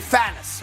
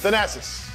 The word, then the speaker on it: Thanasis: You may know this, that Giannis Antetokounmpo has a brother named Thanos, right? Yeah. I think that's how you say it, right? Thanasis. How do you say it? Thanasis.